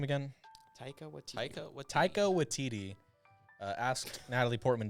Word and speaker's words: Taika Waititi: And speaking I of think I might Natalie have forgot Portman, how do you pronounce his name again? Taika Waititi.